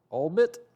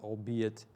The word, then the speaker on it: albeit: but in addition in the first place oh albert it's actually pronounced albeit but you're probably thinking to yourself i need